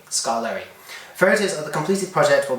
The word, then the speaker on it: Skarloey: I just you just say how it's pronounced Skarloey scolari for the completed project